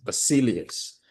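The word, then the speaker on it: basileus: Um those of you who want to write, I'm going to spell it B A S I L I E U S. Basilius which simply means a ruler or king.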